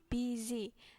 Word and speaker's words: busy: kedua udah benar ya buizy jadi u ini dibacanya enggak u kalau dalam bahasa Inggris Jadi Bu bisa e atau agak ke a Would you like to